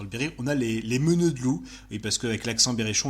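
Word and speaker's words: meneur de loups: très connu dans le Berry, on a les meuneux de loups, et parce qu'avec l'accent berrichon on ne prononce pas le R final.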